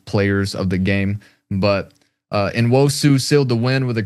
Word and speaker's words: Nwosu: I'm gonna butcher the name. Can you say it again? Yeah, Nwosu. Uchenna Nwosu.